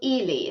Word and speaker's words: Ely: I actually live in a place called Ely. It's spelled E-L-Y, and it's near Cambridge in the UK.